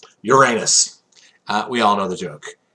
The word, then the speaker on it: Uranus: personally um you'll hear pros they call it Uranus no it's not it's Uranus that's how it's pronounced people just astronomers just try to not